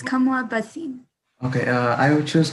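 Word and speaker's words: Kamla Bhasin: uh put back a stereotype I would say kamla bashin is that how you say it or yeah it's it's Kamala Basim okay uh I would choose Kamala Basim because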